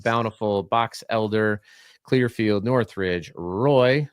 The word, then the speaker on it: Roy: Box Elder, Clearfield, Northridge, Roy, not pronounced Wah, as a Colorado Avalanche not fan. I've learned that it's Roy here, not like the famed goalie.